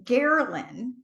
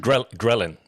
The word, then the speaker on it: ghrelin: What is gherlin? Gherlin. Did I say that right? Ghrelin? Ghrelin. Ghrelin. Like Ghrelin is the hunger hormone, and yes.